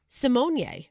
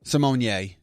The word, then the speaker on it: Simone: Raven Simone decided to come out and say it's actually Simonier. Simonier.